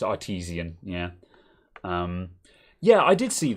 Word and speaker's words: Artesian: I've only just realised that it's not Artisan. Yeah, it's Artesian.